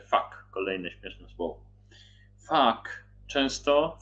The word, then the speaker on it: vak: I też czyta się fak, kolejne śmieszne słowo.